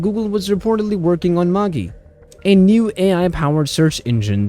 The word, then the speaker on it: Magi: current new AI project called Maggie yes you can say it like Maggie noodles you see Google positioned